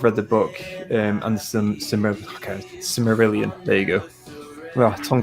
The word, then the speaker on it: Silmarillion: I've read the book and the Silmarillion. There you go. Well, tongue twister. Silmarillion. I got it right the first time. Silmarillion.